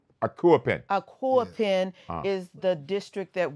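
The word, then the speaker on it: Akuapem: Aquapin, am I pronouncing that Yeah, right? Quappin. Akuapin.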